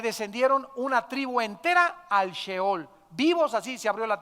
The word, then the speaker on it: Sheol: descendían a un lugar que en el hebreo se escribe Sheol, S-H-E-O-L, Sheol.